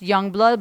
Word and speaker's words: Yungblud: And it's pronounced Yungblud, but it's spelled Young with U-N-G, blood, B-L-U-D.